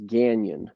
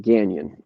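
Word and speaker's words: Gagnon: of a transition so my last name is ghanian g-a-g-n-o-n ghanian okay it's french it's like canyon but ghanian and the joke always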